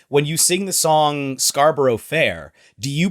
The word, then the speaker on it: Scarborough: Because in American English, we'll be like, "Are you going to Scarborough Fair?" But I've never heard a British person sing the song. It's Scarborough, so it's still 3 syllables, just slightly different syllables.